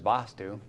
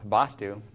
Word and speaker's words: vastu: first of all there's vastu and secondly there's vastu and the difference is actually in the meter of the word itself the first vastu is the short pronunciation of the ah and the shirt vastu